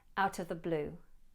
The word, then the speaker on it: out of the blue: Though I would always encourage you to work a bit harder and keep this T in place, out of the blue, out of the blue.